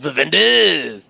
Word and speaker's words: Vivendi: It's pronounced Vivendi. Like that's accurate, actually. Annie, my boy.